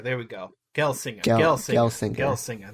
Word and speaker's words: Gelsinger: It's Pat Gelsinger. There we go. Gail singer. Gail singer singer. Gail singer. There we go. I was like, is this gel or gale?